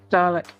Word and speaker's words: Dalek: So how do you say, is it Dalek or Dalek? Dalek.